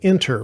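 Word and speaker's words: Inter: to use one and it's called enter with an i so i n t r I'll go ahead and press the enter key and that of course is spelled with an e on my keyboard but they sound the same okay now that we've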